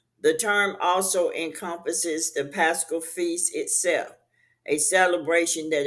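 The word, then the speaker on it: πάσχα: So the Greek word pascal pronounced pasca is a child Aramaic origin and corresponds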